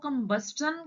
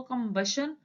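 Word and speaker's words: combustion: next है कंबशन chamber book में जो आउटलाइन दी हुई है वह कंबन के हिसाब से दी हुई है बट हम इसको कंबशन प्रोनाउंस करते हैं तो हम उसी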